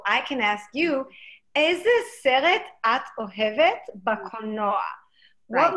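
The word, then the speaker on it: סרט: The word is seret. Seret. And it means movie. And for those of you, again, writing these down phonetically, you would say S-E-R-E-T. Seret. Seret.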